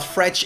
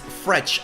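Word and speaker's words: Fred: Saint-Germain, and yes guys, you pronounce it as Fretch. I asked my Brazilian Shakhtar Donetsk fans and they told me people that call him Fret are just people that think you say a name like it's written, but it is Fretch actually.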